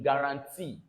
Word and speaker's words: guarantee: Then this UA here, both are taken together as A in guarantee.